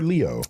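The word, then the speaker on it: Léo: or Leo? There's an accent on the E. Leo.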